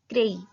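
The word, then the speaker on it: craie: चौक, चौक को बोलते हैं क्रेई, क्र और ए आई का साउंड ए, तो क्रेई।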